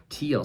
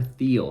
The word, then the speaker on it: Thiel: the name of Peter Thiel. Some call him Peter Thiel because of the way his name is spelled, but he is a German-American billionaire entrepreneur and venture capitalist.